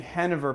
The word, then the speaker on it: Genever: people I know say Genever, so it's one of those two. Anyway, if I started saying Hennever, people would be like, what are you saying? And I'll say, that's the Dutch pronunciation.